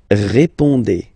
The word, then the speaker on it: répondez: Remember, you combine these two letters, you get the sound E. So, répondez. Vous répondez.